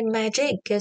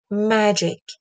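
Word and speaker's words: magic: وتو که پیدا کردی بیا اون وول کشیده تر و بلند تر تلفظ کن اینطوری میتونی استرست تو تلفظ بکنی مجک مجک دیدی ا رو کشیدم امو نمیتونی بکشی کلمه بعدیو ببین کلمه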